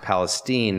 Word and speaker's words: Palestine: Palestine Texas okay pronounced Palestine not like the Middle East I was almost run